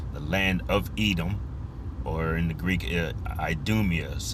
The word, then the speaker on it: Edom: I'll give you pronunciation. Strongs. H1 123 Edom Edom.